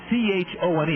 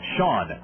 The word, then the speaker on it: Chone: a strike to pigeons sean sagan spells it c-h-o-n-e it looks like chone but it's pronounced shawn five eight one sixty